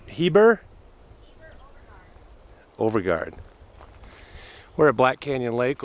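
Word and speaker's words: Heber-Overgaard: It's over by Heber Overview. How do you say it? Heber Overgaard.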